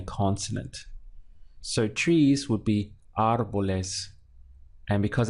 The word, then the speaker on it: árbol: the word so you wouldn't say our Bowl is where you're stressing this part or a bolus where you're stressing the end but audible is the push comes at the front of the word where the accent is our bolus also it's